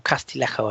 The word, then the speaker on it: Castillejo: He's a player I quite like, actually, or Castillejo, I should pronounce it correctly, shouldn't I?